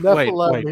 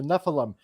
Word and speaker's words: Nephilim: do with like the Nephilim, and he's like, "No, Mike, The no, Mike, Nephilim, it's yes. not Nephilim, it's Nephilim." He's like, Nephilim. you got to say it like like Jewish, and I'm like, I